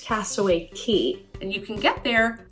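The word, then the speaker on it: Castaway Cay: K or Castaway key it is kind of spelled Castaway K but I've done my research and from everything I can see it's pronounced Castaway key and you can get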